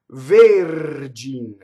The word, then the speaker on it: Vergin: So going back to the first word, the R touches a consonant. And that's all it takes. Vergin.